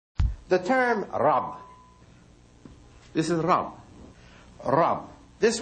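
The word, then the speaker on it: رب: Actually, Rab is really one syllable, isn't it? Rab. When you say the Rabbun, it's two syllables. When you pronounce the sign at the end of the letter, but it's actually Rab, one syllable letter.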